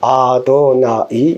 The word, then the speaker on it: 아도나이: 와서 그 글자를 써요 그리고 절대 익지를 않고 아도나이 이라고 발음을 해요 그것은 주라는 뜻이에요 여기에서